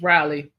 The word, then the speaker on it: Raleigh: on how it's pronounced it's Riley yeah you say Ry and some people say Ria and some people say